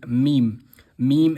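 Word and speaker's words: ميم: Moving on to the next letter which is me. Meme is pronounced when the two lips meet one another. As we can see here from the dot, the two lips are meeting and saying meme.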